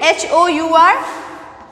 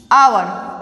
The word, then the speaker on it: hour: but the sounding is vowel, like hour, okay, H-O-U-R, hour, okay. H is consonant, everyone knows H is consonant, okay, but the pronunciation of H is O over here, isn't it?